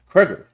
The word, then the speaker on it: Cregger: That's how you pronounce his name, right? Kger or Yeah. Okay. Kger is being handed full creative control to reimagine the property from the ground up.